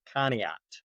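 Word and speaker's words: Conneaut: Family decided to move again from Blountmont, Colorado to a town in northeast Ohio called Kat. And most people have no idea how to spell it or pronounce it.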